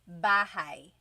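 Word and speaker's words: bahay: You might notice that the spelling is a y at the end. So it looks like bahi, but it's pronounced bahi. That a y combination is bahai.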